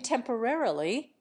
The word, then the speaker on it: temporarily: commonly accent the second in temporarily they also accent the first we accent the third various other examples might